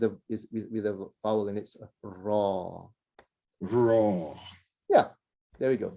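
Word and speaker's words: راء: Okay, so a little bit too much roll there. Okay. Raw. It's actually a raw. So Raw. don't roll too much. Don't say the raw, which is a little too much rolling, right? On the tongue. So less of that rolling.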